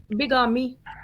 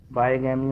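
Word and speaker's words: bigamy: और बिगामी, बाईगैमी, बाईगैमी, ओके। बाईगैमी हो गया, एक से क्या ज्यादा प्रोनाउंस बीवियां। करते हैं सर इसको, बाईगैमी प्रोनाउंस करते हैं कि बिगामी? बाईगैमी, बाईगैमी का मतलब ये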